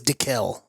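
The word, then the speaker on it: Daikiel: I heard that it was DeKel. DeKel, okay.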